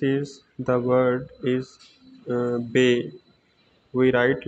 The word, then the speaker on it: ب: in in Arabi we read this word like ba ta sa but in in uru we read